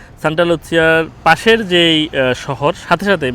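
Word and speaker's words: Santa Lucia: মানে যে সেন্টার বলে সান্টা লুচসিয়া বলে ইতালিয়ান উচ্চারণে সান্তা লুচ্ছিয়ার পাশের যেই শহর সাথে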